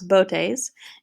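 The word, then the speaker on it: Boötes: Botes, so that's an umlaut there, so let's pronounce Botes.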